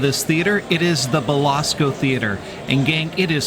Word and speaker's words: Belasco: we already have someone out there I keep mispronouncing the name of this theater it is the Basco theater and gang it is small intimate and